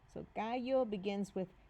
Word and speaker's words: gallo: The G sounds more like an H here.